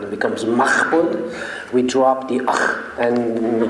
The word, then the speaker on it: Mahbod: In Persian, we say the H. We pronounce the H. So we say Mahbod.